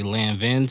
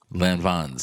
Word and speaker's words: Lanvin: say land vince so i hope i put them on when i said i hope i ain't how did you say it land bonds lanvin's that's how you pronounce it okay they told you